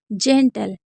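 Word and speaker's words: gentle: जेंटल जनरल तो जेंटल यानी कि सज्जन।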